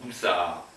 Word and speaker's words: busaa: Et bien à Okinawa aussi, on utilise donc cette graphie, mais en okinawanais, ça se prononce Busa.